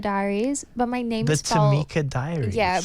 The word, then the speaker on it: Tymicah: So my Instagram is the Tamika Diaries, but my name's The Tamika Diaries. Yeah. But it's spelled weird. Like my mom was trying to be creative. So it's t y m i c a h.